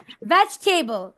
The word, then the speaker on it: vegetable: Vegetable. Vegetable. Vegetable. নির্ঝর। Vegetable. Vegetable. Vegetable. ভেজ না, ভেজ। উপরের দাঁত নিচের ঠোঁট, ভি উচ্চারণ।